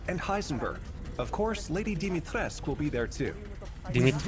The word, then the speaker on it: Dimitrescu: Of course, Lady Dimitrescu will be there too.